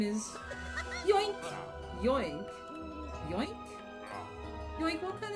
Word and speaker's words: Yoink: Yoink! Yoink? Yoink? Yoink, what kind of name is Yoink? No, you're not saying it right. It's more like... Yoink!